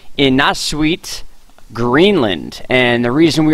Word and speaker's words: Innaarsuit: Now, this area of INNAARSUIT is, I believe, how it's pronounced. I even looked it up. I listened to a Polish pronunciation, all different types of pronunciations, and that was the average one.